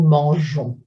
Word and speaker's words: mangeons: So verbs like manger, manger becomes nous mangeons. If we weren't to make those spelling changes, the pronunciation would be affected. We would have to say nous lançons, nous mangons.